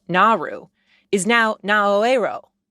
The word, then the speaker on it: Naoero: U R U, which a lot of Americans pronounced Nauru, is now Naoero, N A O E R O, to more closely match the country's native language.